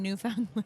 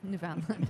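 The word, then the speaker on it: Newfoundland: newy um yeah okay so you say newy as the short and but then New Foundland New Foundland yeah interesting I don't understand I had a newy breeder be like yeah it's New Foundland I'm like okay you're like I guess that's the way I'm saying it now like everybody pronounces samid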